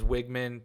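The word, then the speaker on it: Weigman: Wigman, that's how you say his name, by the way, is Wigman.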